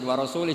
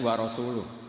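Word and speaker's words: وَرَسُولُهُ: Allah itu terbebas, gak urusan dengan orang musyrik, wa rasulih juga gak ngurus Rasulnya. Kalau sama Rasul saja tidak ngurus, apalagi sama kita. Sama Sayyidina Ali dibenarkan yang benar bacanya itu wa rasuluh.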